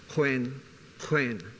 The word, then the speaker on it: Khoekhoen: It would generally in newspapers be spelled Khoekhoen. That's the proper spelling and the pronunciation, and I'll stay with Khoi just for sake of intelligibility, is Khoekhoen.